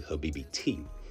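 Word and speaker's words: habibti: She said if because if you were then the proper way to say it would be habibi t which is the female version of habibi.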